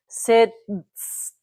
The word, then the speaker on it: sitzt: Well, now Germans like to pronounce every single letter. So when we get to this, we have Sims. Okay, that's just awkward. All right. The same with sitzen. Okay. Sitzt.